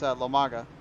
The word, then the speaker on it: Lomaga: So it's not like MAGA, like how Donald Trump would say. It's Lomaga. So just be aware there, folks. It's that's how you say it.